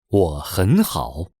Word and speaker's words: 我很好: Here there are three third tones in a row. The first two change to the second tone.